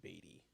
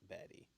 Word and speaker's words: Beatty: I want to say his name is Beatty, not Batty.